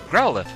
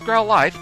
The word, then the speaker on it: Growlithe: Growlithe. Which I always want to pronounce Growlithe because of the E at the end, but the anime tells me differently.